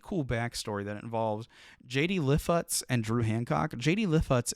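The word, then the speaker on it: Lifshitz: So JD Lifutz, I believe is how his name is pronounced, and Drew Hancock were actually able to link up through a mutual friend.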